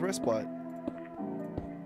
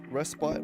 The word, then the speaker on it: respite: We might get 30 seconds rest bite. Did I over pronounce that? Respite.